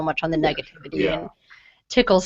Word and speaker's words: TCL: concept of calling them tickles what do you make we make because it's TCL transparent crypto Ledger and if you're gonna say it right you're not gonna say TCL just easier to say tickle so what do you